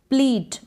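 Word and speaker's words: pleat: फिर है प्लीट। इसको प्लेट भी कहीं पर आप प्रोनाउंस कर दे, बट प्लीट है इसका करेक्ट प्रोनाउंसिएशन।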